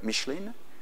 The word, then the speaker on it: Michelin: But these were the old days, because now a company like, I'll pronounce it the American way, Michelin, a company like Michelin will guarantee you that